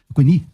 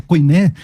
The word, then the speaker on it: koiné: A koiné de João, koiné, né, se a gente usar o grego moderno, o koiné, ou koiné, se usar a pronúncia iotacista, a koiné de João é extremamente fluida, extremamente agradável de ler.